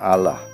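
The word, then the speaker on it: Allah: hoy en muchas aldeas Alá se pronuncia Alah sin una consonante doble l y comúnmente se le llama Gusti Alah.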